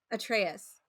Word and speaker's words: Atreus: Atreus.